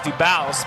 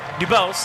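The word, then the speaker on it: Debouse: For those who don't know, it's spelled D-E-B-O-U-S-E. So, of course, your initial thought is Dubose, but Dubose, as we've been informed.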